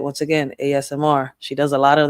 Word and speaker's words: ASMR: Let me say it right this time. ASMR. ASMR. I was about to say Ashmere, but no Ray, stop reading it. You don't read it. It's ASMR. So, make sure y'all go check her out.